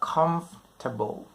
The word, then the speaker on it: comfortable: ค ำ นี้ อ่ า น ว่ า comfortable ไ ม่ ใ ช่ comfortable น ะ comfortable